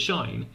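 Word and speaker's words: sinh: 13's doing that earlier why do people pronounce it shine because it's quite close right to being like pronounceable if you if you have sine and you put an h in it here's the h if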